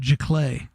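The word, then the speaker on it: giclée: everybody nobody knew how to say the word G clay I remember looking up on the Internet ji-yong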